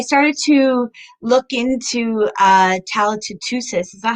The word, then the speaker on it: Tootoosis: And then when I started to look into Tala Tootoosis, is that how you say it?